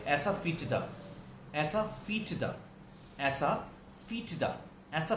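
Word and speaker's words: asafoetida: हींग होती है ऐसा फीटदा, ऐसा फीटदा, ऐसा फीटदा, ऐसा फीटदा। इसको दो पार्ट्स में एक बार पहले प्रैक्टिस कीजिएगा। ऐसा फीटदा, एक साथ बोलेंगे ऐसा फीटदा, ऐसा फीटदा।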